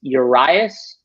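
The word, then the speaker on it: Urías: hitting pretty well and luis urias i think is how you say his name from ureas from milwaukee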